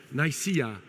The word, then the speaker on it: Nicaea: And I don't know if you heard of the town called, the pronunciation is Nicaea.